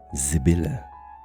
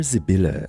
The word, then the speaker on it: Sybille: Many people hear Sibylle and assume that the name is German. I did as well, and you'll hear it in the way I pronounce it, emphasizing that Z or Z sound at the beginning.